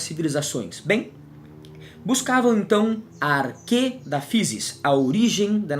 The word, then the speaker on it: arché: Buscavam a arquê da natureza. Arquê, que se escreve arché com CH, acento agudo, não é?